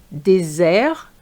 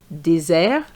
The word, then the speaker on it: désert: collège collègue désert dessert Be careful here. An S between two vowels gives you the sound z. désert dessert mais maïs.